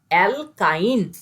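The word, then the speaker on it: alkyne: আর এটা আইন, অ্যালকাইন, তিনটে নামের প্রোনাউন্সিয়েশন কর। অ্যালকেন, অ্যালকিন, অ্যালকাইন। তাহলে কি কি হলো? এন, ইন, আইন।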